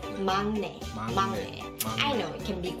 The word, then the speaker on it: 막내: And I know it is written as 막내, but you pronounce it as 막내.